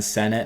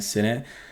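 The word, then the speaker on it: Sinnott: Senate right there and I guess that's how you pronounce it Ben Senate not Ben Sate and there he is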